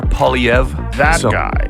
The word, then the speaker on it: Poilievre: Pierre Poilievre. That guy makes so much more sense. Yeah. He's so common sense and just calling out all the nonsense that's been done. Do you think Poilievre would be a better leader for this country?